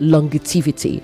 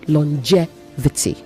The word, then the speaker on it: longevity: not longivity long there is no extra T in that word longevity it is not longivity and it is not longevity okay you say longevity all right and um